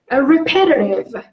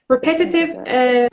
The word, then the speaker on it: repetitive: And repetitive. Repetitive or repetitive. Repetitive تلفظ استانداردشه. But again, you were here Americans this way.